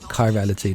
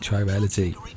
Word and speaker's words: chirality: was saying chiral wrong I was saying for the tribal pronouncing it wrong it's chirality not try reality so we're dealing with